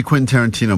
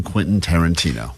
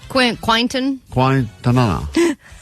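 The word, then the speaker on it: Quentin Tarantino: She's been saying quasa quaintonqana. So quinta nana.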